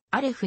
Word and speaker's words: アレフ: 大勝しさらにアルフ日本語での発音はアレフに快勝したアーレフないしアレフ